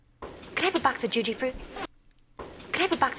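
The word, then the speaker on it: Jujyfruits: So, Juji fruits.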